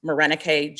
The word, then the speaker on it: Morenike: If you want to tag me, my social media use is a little sporadic, but I'm at Morenike, which is spelled like more Nike and go.